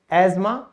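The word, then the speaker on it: asthma: फिर है किला, कासल, यहां पे टी साइलेंट क्यों हुआ, L और E की वजह से। अब और कुछ शब्द हैं, एजमा, क्रिसमस, मॉर्गेज।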